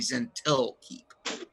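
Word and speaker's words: Zhentil Keep: I think I might have been saying its name wrong in that it's Zentarm's the network. The keep itself might actually be Zentil Keep.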